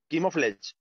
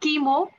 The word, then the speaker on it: camouflage: Camouflage. No, it's not chemo. It's camouflage.